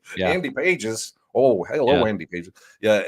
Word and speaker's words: Pages: The G is silent because I have to keep reminding myself, like Andy Pages.